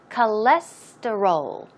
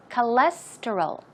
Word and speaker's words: cholesterol: Now, just in case you have a hard time pronouncing this word, the stress goes right here on the second syllable, so it's cholesterol. Cholesterol, cholesterol, cholesterol.